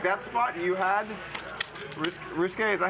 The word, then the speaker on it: Ryusuke: new tunnel what's here okay my name is yeah okay that hand where you got check